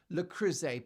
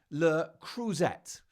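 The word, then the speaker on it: Le Creuset: start to the day Megan then corrects Mindy's pronunciation of the French lrus pan that's a frying pan that she used to make the food Mindy called it l cruette which I thought was quite endearing but ever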